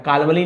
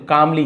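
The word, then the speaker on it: calmly: तो यहां पे देखिए एल को आपको नहीं पढ़ना है। कालवली नहीं बोलेंगे। कामली ये वाला एल नहीं बोलेंगे।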